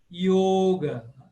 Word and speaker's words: yoga: do sânscrito clássico e o o como eu falei sempre fechado como em telefone Então você tem yoga famosíssima palavra yoga Por que yoga porque em sânscrito só tem o o fechado yoga não existe o aberto